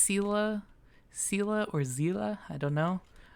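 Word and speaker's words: Seele: I heard Sela, Zila, which that sounds a little bit more accurate. Zila with a Z instead of an S.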